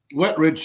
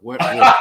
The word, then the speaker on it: Wetrich: asked, is it pronounced Wetrich? Wetrich, yeah, it's just two words put together, Angelo. It's the opposite of dry and poor. Wetrich.